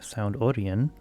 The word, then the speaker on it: Sound Orion: back in 2017 and they actually pronounced it like sound Oran with the I being more like an e and it's all one word though that's probably just